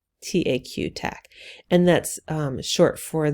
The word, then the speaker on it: Taq: polymerase called tac polymerase now this word is pronounced tac taq tac and that's short for the name of